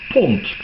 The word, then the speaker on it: pond: And the single D at the end, you said we don't pronounce it D. No, it's lightened to, it's made voiceless.